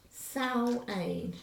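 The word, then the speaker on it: Samhain: um was marked by a festival called sao ayn and it's spelt s-a-m-h-a-i-n so this uh annual change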